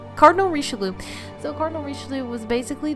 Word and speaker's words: Richelieu: little twist right there i can't do it rishalu there you go we'll say it like that cardinal richarloom so cardinal richelieu was